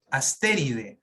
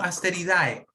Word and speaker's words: Asteridae: Pero se pronuncia de, Asteride, no Asteridae. ¿Ya?